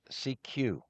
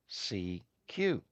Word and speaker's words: CQ: To get someone's attention without addressing a specific station, operators sent CQ, which translates phonetically to, quote, seek you. Seek as in S-E-E-K and you. The evolution.